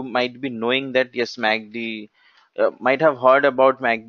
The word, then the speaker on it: MACD: be knowing that yes Magdi might have heard about mag dick it's not that magda vigeous which we go for eating its MACD it's normally being pronounced as magdi in the market so coming to magdi